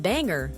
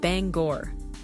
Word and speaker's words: Bangor: For example, the border town of Cala is not pronounced like the French city, but simply call us. And it's not Banger for Bangor, but Bangor.